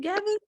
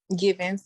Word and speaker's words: Givens: Am I saying it right? Gavin? Givens, yes, Givens. Okay, so you explained it a little bit.